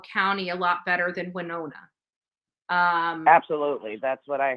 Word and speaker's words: Winona: and by the way it's pronounced Winona Winona we're known as you